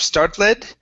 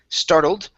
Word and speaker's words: startled: the ed ending okay on startled instead of start lead startled and then give me good